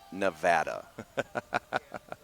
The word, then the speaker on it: Nevada: She puts her hands on the counter and leans in and looks me dead in the eyes and says, "It's pronounced Nevada."